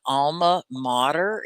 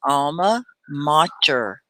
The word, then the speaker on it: alma mater: alma mater do you guys know what an alma mater is i'll spell it in the comments alma mater is how you say it let's say it